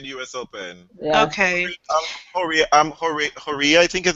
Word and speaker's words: Horia: Horia, I think his name is pronounced? Yeah, Horia.